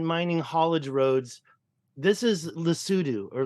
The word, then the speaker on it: Lesotho: I've found all these ancient mining haulage roads This is Lesotho or Lesotho. It's pronounced Lesotho, and that's the border of that country.